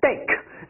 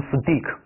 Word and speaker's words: steak: 好，这个注意发音 steak，千万不要读成 steak， steak， ache， steak。Tell，注意这个双